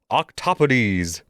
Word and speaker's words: octopodes: So, the plural for octopus is octopodes. And yes, with a more Greek pronunciation, the second syllable gets stressed instead of the first.